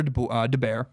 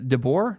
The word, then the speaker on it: DeBoer: I was watching an NHL game, literally because I was trying to figure out how to pronounce his name. The announcer called him DeBoer.